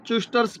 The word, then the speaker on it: Schuster: Thus we are pronouncing it as a Schuster's method. S is remain silence.